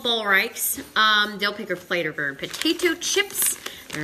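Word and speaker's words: Ballreich's: So it's pronounced Ballreichs because I Googled it and I didn't know what was going on.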